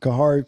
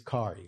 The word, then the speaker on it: Khary: We got we got the king Kahari Peyton. How you doing, sir? Good. Good. It's Kari. You don't you don't have to pronounce the H.